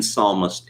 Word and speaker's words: psalmist: Joe Biden doesn't know the P in psalmist is silent, not the S."